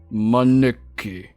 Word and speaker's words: Maneki: Maneki.